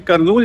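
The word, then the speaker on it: కర్నూలు: फिर हाँ, उसने बोला कि करनूल जाना है क्या। मैंने कहा करनूल, हाँ वही। फिर उसने बोला ओके ओके, उसको समझ में करनूल आ रहा था। एज per English pronunciation of कुरनूल है।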